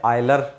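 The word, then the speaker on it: Euler: अब Navier stock के बाद में आते हैं हमारे आयलर, जिसको आप बोलते हैं यूलर बोलो, एक ही बात है, प्रोनाउंसिएशन अलग अलग है यूके यूएसए का, मैं इसको यूलर ही बोलूँगा।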